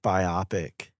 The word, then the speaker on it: biopic: We are talking about the parody rock biopic. Biopic? It's biopic. Biopic? How are you pronounce it?